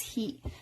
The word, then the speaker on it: ひ: that you can remember H I means he never hi go ahead and do that but if you're if a lot of people think that they're fine with it and then when they're doing their flashcards they wind up memorizing this as high it's not high it's heat so you may want